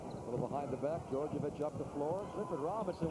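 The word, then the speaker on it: Djordjevic: Called on Georgievich, and that's the way it is pronounced. It is spelled D-J-O-R-D-J-E-V-I-C. It's pronounced Georgievich.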